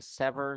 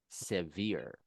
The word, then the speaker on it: severe: and the other one is instead of saying sever, you're going to say severe.